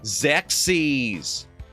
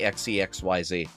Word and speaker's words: Xexyz: I thought you pronounced it the way you spelled it, which is XEXYZ. So, I used to say, uh, I I I want to play XEXYZ.